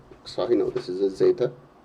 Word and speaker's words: zeta: And here we're going to have zeta naught, zeta 1, zeta 2. Zeta is the correct Greek pronunciation, by the way.